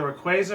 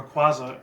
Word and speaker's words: Rayquaza: If any people remember it, it's two different pronunciations, either Rayquaza or Rayquaza.